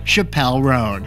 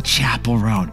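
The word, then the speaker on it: Chappell Roan: tide and finally who could forget this singer Chappelle ran ah you mean Chapel rone she's not going to be happy about that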